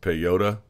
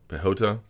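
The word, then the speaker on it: Piechota: what you saw there Oscar spelled pi chota I think it's pronounced pay yoda pehota defeated Jonathan Wilson 30-27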